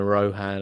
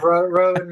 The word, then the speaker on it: Rohan: All I've right, been go I've yeah, been going Rohan. I think I said as well at the start. So there you go. yeah. Rowan, me, a lot of Rowan.